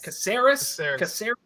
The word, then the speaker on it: Caceres: Caceres, isn't it? Yeah, soft C. Caceres.